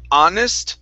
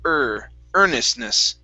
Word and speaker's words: earnestness: Instead of honest, it's earnestness.